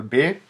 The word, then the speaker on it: Б: son le b b c'est pas un B comme en français avec un B accent aigu c'est un B un B un peu